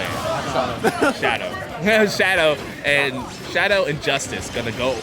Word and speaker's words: Shyado: Shyado.